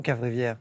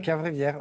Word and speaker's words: Caverivière: Pourquoi les gens n'arrivent pas à prononcer votre nom, Ah, Philippe c'est Cavrivière? incompréhensible, il est facile, non, Cavrivière, non Thomas C'est m'a fait sud-ouest. répéter tout à l'heure. C'est vrai, Ouais. c'est Cavrivière.